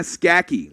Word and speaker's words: Skaki: Hannah Skaki, we got it now. She tells us we got an A for effort, but it's pronounced Skaki like khaki, and her favorite player is David Armstrong.